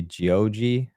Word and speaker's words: Geoje: So Geoje. I would say Geoji, but I don't speak Korean.